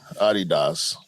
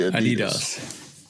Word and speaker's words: Adidas: You say Adidas, I say Adidas. Hey, Adidas. Adidas. Yeah. Now, I have zero problem with the pronunciation that y'all use versus the pronunciation that I use.